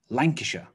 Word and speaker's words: Lancashire: Lancashire.